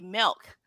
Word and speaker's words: MILCK: know how to pronounce the name is actually milk but why milk it's